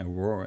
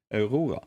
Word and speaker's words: Aurora: I hate saying Aurora in English. It's Aurora. That's how you say it in Norwegian.